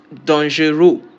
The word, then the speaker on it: dangereux: Like I said, words ending with OUS in English are converted to EUX in French or EUSE in French, depending on if it is masculine or feminine.